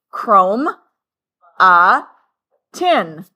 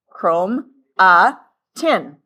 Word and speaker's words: chromatin: It is called chromatin. It's pronounced chrome a tin. Chrome a tin.